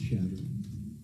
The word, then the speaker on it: Chadron: Pronounced Chadron.